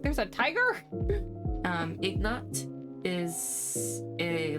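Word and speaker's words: Ignat: His name is Ignot. I g N A T.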